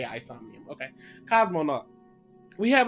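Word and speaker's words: AI Somnium: dilemma or whatever um actually don't know how to say it i say i insomnium yeah isomnium sounds about right aison the somnium files you're right oh so it is a isomium okay cosmonaut we have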